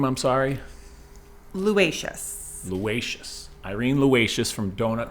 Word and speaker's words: Luaices: Luaices.